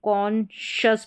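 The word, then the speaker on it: conscious: एस का उच्चारण यहां पर आपको नजर सुनाई नहीं दे रहा होगा। लेकिन ये साथ में ही रहेगा। इसको कॉन्शियस पढ़ेंगे।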